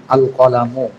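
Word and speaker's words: القلم: এরপরে কলামুন, এর শুরুতে এরকম ভাবে আলিফ লাম যোগ করলে হয় কলামুন, আল কলামু, আল কলামু কলমটি।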